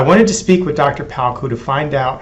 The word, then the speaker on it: Palko: Joel Palko. Did I pronounce that correctly?